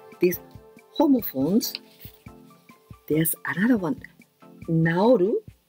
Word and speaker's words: 直る: Naoru, naosu. Oh, exactly. The same pronunciation.